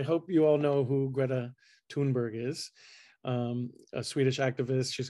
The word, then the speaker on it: Greta Thunberg: And they love this, and they love Greta, and they love to pronounce her name correctly, which is Greta Thunberg.